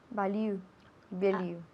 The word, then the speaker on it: value: Value. Ok, first syllable lleva el acento. Value.